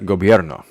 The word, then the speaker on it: gobierno: So you got gobierno. Gobierno. I need to make that 3 syllables, not 4.